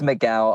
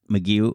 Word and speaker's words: McGough: or is it miguel it's mcgowan on the stage but it's me you off stage mcgee off stage make you off stage that's my real name yes so would you